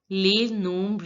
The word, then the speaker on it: les nombres: I told you before also that in French, generally the last letter of the word is not pronounced. So in case of les, the last letter of the word S is not pronounced. And in this word nombre, the last letter of the word S is not pronounced. So we pronounce it as les nombres.